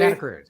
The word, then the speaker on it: Santa Cruz: Santa Cruz.